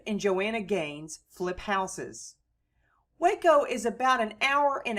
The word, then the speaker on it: Waco: Waco also lies on the Brazos River and was founded in 1841 on the site of the Waco, spelled in Spanish Hueco, and pronounced Waco, Indian village near a Texas Ranger fort in the farming and plantation area that is now Waco, Texas.